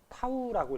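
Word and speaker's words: τ: 먼저 10코트 적어 주면 문자를 요렇게 쓰는데 요거 읽을 때는 타우라고 읽어 주면 되고 요게 이제 돌림 힘.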